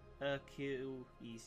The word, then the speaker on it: Achilles: Pronounced Achilles.